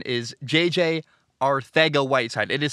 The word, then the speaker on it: Arcega-Whiteside: I'm told there's a TH sound. I do it the best I can. Anyway, in the second round of the draft in 2019, Philly took J.J. Arcega-Whiteside instead of DK Metcalf.